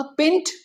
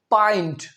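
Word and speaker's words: pint: पेंट। नहीं नहीं नहीं पेंट नहीं है ये ये है पॉइंट पॉइंट जी हां पॉइंट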